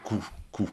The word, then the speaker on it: Ku: Coup enfin ça se prononce coup parce que c'est d'origine japonaise.